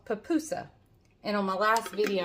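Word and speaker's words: pupusa: around oh well i told him and i pronounced it wrong it is papuso on our last video we went to peppy's party and we had for the first time it's an el salvadorian dish called papoosa and on my last video i pronounced it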